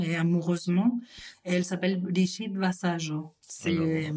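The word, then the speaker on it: Vasallo: amoureusement elle s'appelle bichid vassajo c'est c'est ça s'écrit vasalo hein pour le pour les pour les français pour les Français oui V a S a del O Brigitte voilà comme Brigitte tout simplement elle est catalane d'origine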